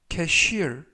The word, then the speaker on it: cashier: 의미가 되겠습니다 2번 표현은 cashier cashier cashier이라고 발음하시면 되겠고요 이때 강세는 알파벳 아의 강세가 있어서 cashier이라고 발음하시면 되겠습니다 품사는 명사 뜻은 계산원이라는